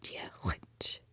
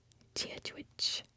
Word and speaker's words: Diolch: To say hello in Irish Gaelic is Diolch. Diolch. Now that one's a little tougher, so I would break it down as Diolch, and then just do a more throaty GH. So like Diolch, which, Diolch, Diolch, Diolch.